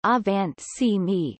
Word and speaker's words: Angewandte Chemie: Angewandte Chemie, German pronunciation, Avant Chemie, meaning applied chemistry, is